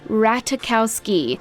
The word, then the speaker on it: Ratajkowski: us the correct pronunciation it's ratakowski with the j being silent and the k sounding like a c don't mind the phonetics